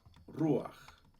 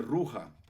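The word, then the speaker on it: רוח: veces pronuncia mal verdad por ejemplo la palabra ru ru significa ya saben ustedes que es el espíritu no el aliento del eterno Pero hay gente que dice ruja la ruja del espíritu bueno cuidado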